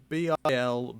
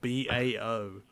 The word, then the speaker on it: Bilbao: No, see, it's Spanish. Of course it's not going to be spelt like How that. do you spell it in Spanish then? Bilbao. Bao. Yeah. Bao. Bow, like a bow bun.